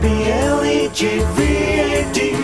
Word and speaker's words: Blegvad: Peter Blegvad rhymes with Eggvad, B-L-E-G-V-A-D, pronounced Blegvad, yeah.